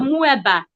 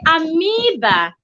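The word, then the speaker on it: amoeba: us was taught at mueba so every other biology teacher also teaches 56 learners or students before you know it everybody starts saying and finding proof we're supposed to say amiiba so while we are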